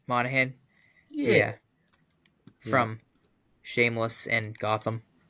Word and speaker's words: Monaghan: Cameron, I'm gonna butcher the last name. Mohegan. Oh yeah, Monaghan.